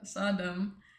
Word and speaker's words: Sodom: Sodom. The king of Sodom said to Abram, "Give me the people and keep the goods for yourself." But Abram said to the king of Sodom, "With raised hand I have sworn an oath